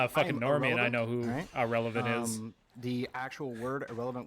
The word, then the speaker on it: AhRelevant: and i know who irrelevant is the actual word irrelevant was taken and i like it so it's pronounced exactly like the word irrelevant like somebody is a